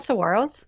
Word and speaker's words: saguaros: seen them the classic ones okay they're called saguaros that's the correct correct pronunciation of them and they're found only one